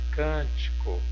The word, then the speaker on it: Cântico: como proparoxítona Beleza outro exemplo aqui a palavrinha Cântico Cântico olha separando a palavrinha Cântico cam Chico